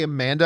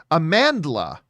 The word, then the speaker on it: Amandla: of uh oh boy i always want to say amanda i want to make sure i pronounce the name right uh a man a man amandla amandla stenberg she's from the the